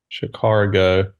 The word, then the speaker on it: Chicago: ah what you just you don't go R when you say CH car go um but I know